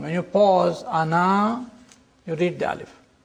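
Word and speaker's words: أنا: This means that the alif is not pronounced in continuous reading but it is to be pronounced in the pausal form. When you pause ana you read the alif.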